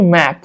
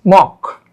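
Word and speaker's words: Mach: only Mark number Square it is not actually Mac the uh pronunciation is mock okay so this PR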